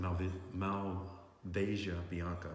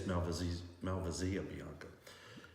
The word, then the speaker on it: Malvasia Bianca: So this, depending on how you say it, I've always said it Malvasia Bianca. People say it's Malvasia Bianca.